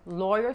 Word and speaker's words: lawyer: Lawyer se pronuncia como hoy, pero con L.